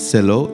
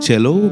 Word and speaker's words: cello: it seee double-l Oh in English people call sell oh so it's not as sell oh it's a cello because it is Italian world and the full name of this instrument called viola cello and it's from the